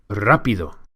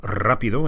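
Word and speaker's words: rápido: The R in rapido, as you can hear, is rolled or trilled. This is because it's the first letter of the word. When an R is the first letter of a word in Spanish, it's always rolled.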